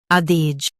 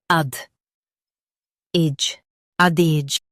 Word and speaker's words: adage: ad age adage Stress AD and keep age A light.